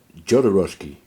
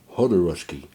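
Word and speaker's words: Jodorowsky: say his name differently I used to say uh joski or something like that joski cuz I thought how that's how you say it but it is hoski H roski's Dune um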